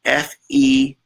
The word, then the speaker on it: Fettick: That's going to, Matthew Fettick, and that's pronounced, he's going to shoot me, Fetick, Matthew Fettick.